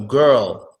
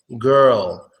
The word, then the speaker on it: girl: in the world squirrel girl is just like squirrel but what a G instead of a squat so girl girl how can I teach